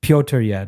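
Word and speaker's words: Petr Yan: Peter Yan. I was about to say... Peter Yan. Easy. How do you say his name actually? Piotr Yan.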